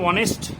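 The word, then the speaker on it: honest: আমরা বলেছিলাম এর আগের দিন যে এইচ সাইলেন্টলি উচ্চারণ হয়, অর্থাৎ এইচটা উচ্চারণ হয় না। তো ডেফিনেটলি যেহেতু এইচ উচ্চারণ হয়, অনেস্ট যেটা বলছি আমরা হনেস্ট বলতে পারতাম, বাট এইচ যেহেতু উচ্চারণ হয় না সেহেতু আমরা অনেস্ট না বলে অনেস্ট বলবো।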